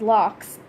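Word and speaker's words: lough: number seven and Ireland lakes are called as logs pronounces LOX number eight Gaelic is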